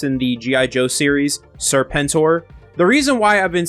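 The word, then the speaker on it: Serpentor: So, before we get into the video, I have been saying Serpentur instead of how it's actually pronounced in the G.I. Joe series, Serpenttor.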